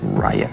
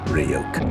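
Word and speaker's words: Ryuk: and he wants to be entertained don't trust riot hey kid it's pronounced ryokan go check it out everything else was objectively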